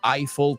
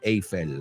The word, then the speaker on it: Eiffel: telling you in English we say the Eiffel Tower not AEL as they say in Spanish uh Laura also got